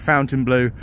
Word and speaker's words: Fontainebleau: and I said right despite the spelling being Fontaine Blue how do you pronounce and she said Fountain Blue everyone's calling it Fountain Blue and that's what it is so they you